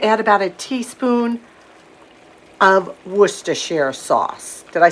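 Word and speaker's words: Worcestershire: I'm going to add about a teaspoon of werer sauce did I say it right Paul that's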